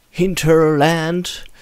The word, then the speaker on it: Hinterland: game made by hinterland or pronounce it more like an English word hinterland entertainment productions I don't